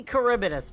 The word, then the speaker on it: Charybdis: So it's pronounced as Charybdis. It should be Charybdis based on history, but yes.